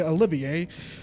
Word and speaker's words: Olivier: freaking dog Davis Oliver because it's spelled that way but they say Olivier like why at the